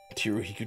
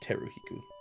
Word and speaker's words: Teriko: me a second T Riku doesn't even fit it's not t Riku it's ter Riku terik Co teriko oh